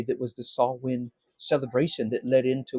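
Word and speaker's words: Samhain: experience um even Sam very few get it right it's actually pronounced saw wind it's from the Celtic holiday that was the saw wind cele ation that led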